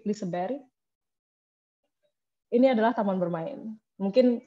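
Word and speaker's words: Liseberg: seperti gold meja tebori ini bacanya bukan glisber atau lisabet tapi disebar ini adalah taman bermain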